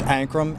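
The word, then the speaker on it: Ancrum: It's Ankrum, A, N as in Nancy, C-R-U-M as in Mary.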